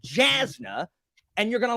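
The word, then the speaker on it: Jasnah: So you mean when you read it the first time, before listening to Sanderson talk, you had no idea that this was pronounced like a Y.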